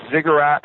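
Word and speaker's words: Ziggurat: it Thomas I know it's has a funny pronunciation and a spell yeah zigat Lounge zi g g Ur r a t zigurat Lounge uh and there is mostly short pieces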